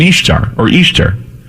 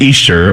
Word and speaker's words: Ishtar: And I did a search on the internet for burning churches in Ishtar, Ishtar, I-S-H-T-A-R, pronounced Easter, or like Easter, okay?